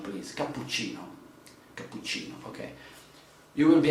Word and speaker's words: cappuccino: am emphasizing this okay you can say but cappuccino okay you see that the sound cap okay when you when you speak cappuccino okay i want the cappuccino please cappuccino cappuccino okay you will